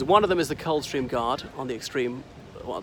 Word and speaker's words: Coldstream: I know it's Cold Stream, but we seem to align the D just to pronounce it Coldstream.